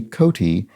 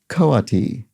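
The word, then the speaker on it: coati: i think have often called incorrectly apparently a coty is actually pronounced koati so thank you dragon traces and also this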